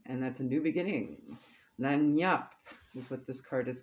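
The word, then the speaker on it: lagniappe: Lanyap. That's how that's pronounced.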